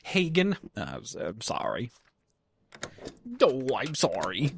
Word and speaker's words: Hagen: It's pronounced Hagen.